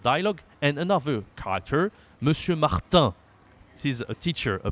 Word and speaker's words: Martin: This is the most common noun in French, Martin. Okay, again a nasal. Okay, like the word we saw before. I don't remember which one, but we say not Martine, we say Martin. Martin.